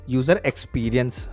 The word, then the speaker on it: UX: तो क्योंकि यूज़र एक्सपीरियंस, एक्सपीरियंस का ई पहले आता है, लेकिन साउंड क्या कर रहा है? एक्स पहले कर रहा है, तो इसलिए यूज़र एक्सपीरियंस बोला जाएगा। जैसे नाइफ में हम के को साइलेंट समझते हैं क्योंकि साउंड पहले एन करता है, तो इसीलिए वैसा ही है कि यूएक्स लिखा गया है यूई की जगह पर।